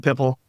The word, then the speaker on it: PIPL: And then for anybody listening, People, it's spelled PIPL. Most of us OGs call it Pipple.